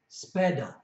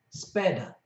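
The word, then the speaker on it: sepeda: well and that is spada spada the first e is soft the second e is hard and has a stress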